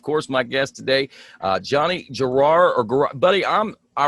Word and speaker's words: Girroir: how you say that how do you say your last name so we clear this up and I don't butcher it so much in the future it's juror girar so it's that simple I get it right